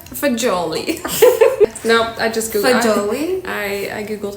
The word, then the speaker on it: fagioli: Fagioli? I googled how to pronounce it. Fazool.